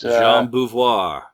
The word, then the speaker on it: Jean Beauvoir: Jean Beauvoir. Yeah, nice French pronunciation there, yeah.